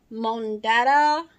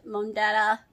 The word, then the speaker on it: Mondetta: no holes in that mon data like that's how you pronounce it mondetta I do have to